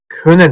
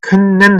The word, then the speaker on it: können: 예를 들면 könen 이거 어떻게 읽었어요? könen 했죠. können 하지 마세요. 많은 강사들이나 학생들이 können 하고 읽어요. 근데 독일에서 können 하지 않습니다. können 이렇게 반복해서 그 N이나 M이 반복되는 경우 그렇게 읽지 않는다는 거.